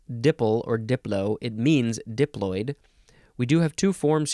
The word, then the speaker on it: diploid: fun word to say diploid and diploidy oh that's filled with um diphthongs there's not filled with there's only one oid the o i oi that's a diphthong next meep diploid second